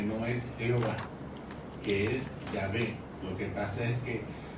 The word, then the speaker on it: Yahvé: Usted sabe que el nombre de Dios el judío no lo pronuncia. El nombre correcto es Yahvé.